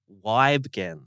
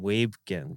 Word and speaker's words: Wygen: new young gun Hugh Wygen. Wen. I was calling him Webin but uh I just had it corrected Wygen.